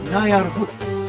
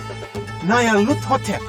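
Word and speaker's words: Nyarlathotep: This phrase is pronounced Nayar Hut, or more likely, Lut Hotep. Nayar Lut Hotep, that's it!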